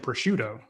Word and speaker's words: prosciutto: by the europa location grab a peach and prosciutto uh you said it right attaboy hey i